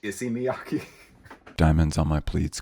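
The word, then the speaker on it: Issey Miyake: you guys have any i see miyaki to my credit though the guy working at the store was like it's actually pronounced issy miyaki diamonds on my pleats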